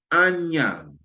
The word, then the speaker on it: Anyang: the Shang dynasty China is um um Anyang Anyang. It's spelled it's spelled a n y a n g.